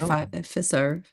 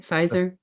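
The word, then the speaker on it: Pfizer: No, that's at Fiser. Is that how you say it? Fizer.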